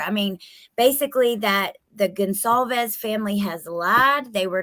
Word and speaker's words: Gonsalves: But I would say Gonsalves, not Concalves.